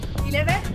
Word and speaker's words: ILEVE: So, the last 20 (km) to Bern accompanied by Silvia and Simon from ILEVE. We'll be there later... Am I pronouncing it right? ILEVE Good.